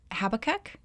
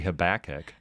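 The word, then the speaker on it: Habakkuk: with yeah H BB habac yeah that's see that's how the Dutch say that's how the Dutch say it and I'll bet a lot of our neighbors say habach oh they might but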